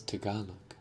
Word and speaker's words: Tagalog: Oh, it's Tagalog. Tagalog. It's T. Why is it T? Tagalog. Tagalog. It's Tagalog. Okay.